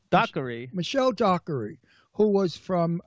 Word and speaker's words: Dockery: Dockery.